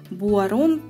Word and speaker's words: Boiron: Компании Boiron, или как его называют, Boiron, правильно говорить.